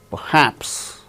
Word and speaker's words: perhaps: Relation, relation, perhaps, perhaps. R is not uttered because it is followed by h in the word perhaps.